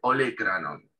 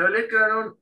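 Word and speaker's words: olécranon: en inglés sería olecranon y en español se escribe igual, pero con el acento en la E, ¿sí? El acento escrito en la E. En español se escribe olecranon, ¿sí?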